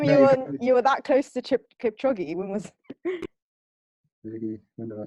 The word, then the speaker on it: Kipchoge: Kipchoge.